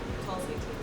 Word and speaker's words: Tulsi: How do you pronounce it? Tulsi? Tulsi.